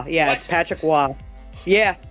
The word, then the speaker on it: Patrick Roy: win against Winnipeg Jets at The Forum it's Patrick Wah I know for some reason Roy is percent uh pronounced yeah that's Patrick Wah yeah it's Patrick Wah it's one of the